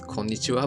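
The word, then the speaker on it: こんにちは: But, okay, so this Japanese character, it is pronounced as こんにちは, but this is spelled wrong.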